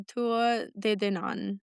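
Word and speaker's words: Tuatha Dé Danann: The fairies I want to talk about are the Tua de Danann.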